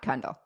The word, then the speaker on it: Kundle: podcast are numbered according to Kundle. Okay. Yeah. Rhymes with bundle.